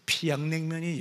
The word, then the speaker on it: 평양냉면: 평양냉면, 우리는 그렇게 얘기하지만 피양냉면이 역시야 맛있다는, 똑같은 단어지만 뜻이지만, 이 사람이 피양냉면 이렇게 발음하는 걸 보고 이 사람이